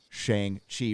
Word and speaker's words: Shang-Chi: extra since I don't uh have to see Shang Chi rhymes with t thank you that is awesome thank